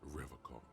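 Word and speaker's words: Revachol: He pronounces Revacol with a hard K, unlike other people. I like to pronounce it the hard way, the old way, the Vespertine way.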